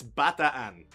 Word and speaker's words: Bataan: And the tour guide, who was fucking gorgeous, came up to me and she was like, okay, darling, it's Bataan.